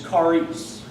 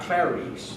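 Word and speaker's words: χάρις: So, the Greek word for grace is charis, not claris, like the scary... Charis. It is spelled C-H-A-R-I-S.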